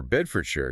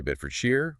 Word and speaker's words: Bedfordshire: Often people closer to London or those speaking receive pronunciation tend to use the Shire sound rhyming with fire. People in the regions themselves often prefer the Shire sound rhyming with fear.